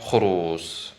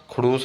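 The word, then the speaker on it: خروس: जो कि यहाँ पे खरूस बताया गया आपको। खरूस यानी मुर्गा, खड़ूस नहीं बल्कि खरूस।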